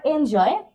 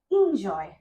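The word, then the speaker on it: enjoy: recitation recitation recitation তারপর এটাকে বলি আমরা এনজয় এনজয় ডেট অলসো রং এটা হবে ইনজয় ইনজয় ইনজয় ডে ইনজয়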